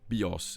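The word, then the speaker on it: βίος: Playing on the fact that in the tonal Greek language, bios is life, and bios, with the accent on the omicron, means bow.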